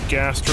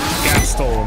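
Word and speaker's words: Gastal: right let's get a gastro thrill seeker down gastl not gastro I always say gastro like gastro bypass thrill seeker it's gastl gastl thrill seeker can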